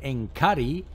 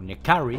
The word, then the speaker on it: N'Kari: es el bueno de Enkari, o Nekari, como queréis llamarle. Habrá gente que lo pronuncie de una manera o de otra, hay gente que le llama directamente Enkarni.